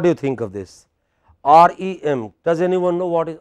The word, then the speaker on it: REM: REM. You know, this is how abbreviations go. Stress on the last letter.